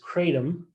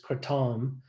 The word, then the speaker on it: kratom: it's originating from is kratom so they actually put sort of a emphasis on the tom parts but we'll we'll talk